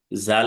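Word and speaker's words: ذال: জাল। এটা বর্গের জয়ের মতো বলা যাবে না। জাল হরফটা জিহ্বার আগা থেকে সামনে দুই দাঁতের আগার সাথে লাগবে। জাল।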